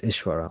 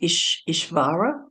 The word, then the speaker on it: Ishvara: Is it Ishvara? Is that how you say it? Ishvara, that's right.